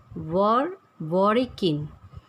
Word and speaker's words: Zworykin: Vladimir, Z is silent here, Zworykin. So pronunciation of it is Vladimir Zworykin in 1940.